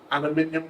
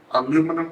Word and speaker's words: aluminium: paper glass bottles and aluminium can or aluminum cans depending on the US UK pronunciation or you can say